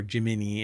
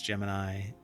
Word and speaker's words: Gemini: But anyway, they're going to deep dive from developers the latest on Google Gemini or Jiminy if they pronounce it that way. Some people pronounce it Jimny, but it's Gemini for everything but the NASA uh operations.